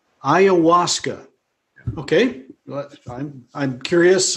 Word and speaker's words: ayahuasca: that's that's that's could you just clarify the pronunciation of that uh for us what did you call it ayahuasca ayahuasca okay well i'm i'm curious i what's what's